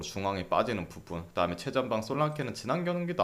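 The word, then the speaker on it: Solanke: 자, 이 경기 일단은 본머스가 솔랑케 영어 발음이니까 솔랑케, 그리고 뭐 루이스쿡, 타베르니에 결장.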